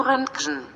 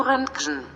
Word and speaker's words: Röntgen: Wilhelm Röntgen. Wilhelm Röntgen. Olha agora a nossa tradutora aqui no português. Wilhelm Röntgen.